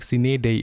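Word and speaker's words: sine die: सिनेई इसका प्रोनाउंसिएशन सिनेई होगा। डाई नहीं होगा डेई होगा।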